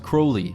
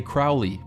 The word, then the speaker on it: Crowley: of the Illuminati that it is pronounced Crowley to remind you that I'm holy, but my enemies say Crowley and wish to treat me foully.